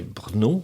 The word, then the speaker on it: Brno: premier dégagement qui était Brno, que je prononce je prononce bien, BRNO.